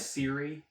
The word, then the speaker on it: Siri: Seer Junda. Human female. Jedi Master. Former. She's a human and her name is Seer and they did Ben. Seer's an actual Pronounced name. Siri.